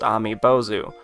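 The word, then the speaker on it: アメボウズ: looked at the creature's name in Japanese is pronounced amibozu which seems to be a play on the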